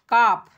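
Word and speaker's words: calf: आगे है काफ। यहाँ पर देखना है काफ, L साइलेंट है, L साइलेंट है और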